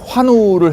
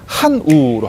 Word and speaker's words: 환우: 그러니까 와 발음을 해야 되는데 아 발음 하셨어요. 그러니까 병상의 환우를 해야 되는데 병상의 한우로 하시는 거예요.